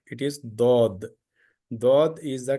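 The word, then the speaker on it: ضاد: who learn Arabic letters through uru they say Zod Zod is not correct it is do do is the correct pronunciation of the Arabic from the Arabic origin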